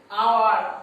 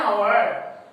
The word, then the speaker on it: hour: For example, if any word starts with our, honest man, so any words, if any word